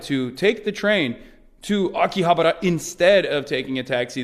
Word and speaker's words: Akihabara: capital of the planet I'm gonna say it wrong a key habara Akihabara we are on our way